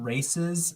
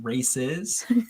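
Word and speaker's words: Raíces: to it's a bruise brewery's called races brewing so i have to be really careful about how i pronounce that r-a-i-c-e-s races good good good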